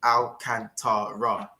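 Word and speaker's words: Alcântara: old cheap shot firstly if you're gonna say his name say it properly al cantara that bomb that's all it is oh just now a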